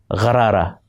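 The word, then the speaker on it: غرارہ: This Urdu sound appears in the word for gargle, gharara. Gha is pronounced lower in the throat, where the other Urdu sound kha and qa are pronounced.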